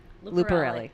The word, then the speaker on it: Lucarelli: yes and I ki Lucarelli rhymes with smelly Raven Chow do you